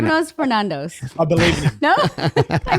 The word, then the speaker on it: Stefanos Sifandos: I'm going to say it in the accent as well. That's meant to be the pronunciation that it should be pronounced in.